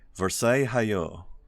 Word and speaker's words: Versailles: believe it is a Versailles you don't tend to pronounce these L's here for some reason they